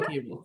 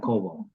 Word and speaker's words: Koebel: and I know that's not how you spell cable fair enough yes it is k o e b e l perfect b o e is pronounced a so cable not cobal and it's German yeah anyways so for me